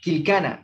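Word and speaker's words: killkana: Quilcana es escribir y su pronunciación es quilcana, así mismo, como dicen.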